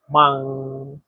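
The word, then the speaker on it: 忙: এর বাংলা হচ্ছে ব্যস্ত এখানে দেখেন এই শব্দটাতে চাইনিজের দুই নাম্বার টোন ব্যবহার করা হয়েছে আর দুই নাম্বার টন উচ্চারণ নিয়ম হচ্ছে নিজ থেকে উপরে মাং মাং আপনিও আমার সাথে উচ্চারণ করেন মাং মাং একটা জিনিস মনে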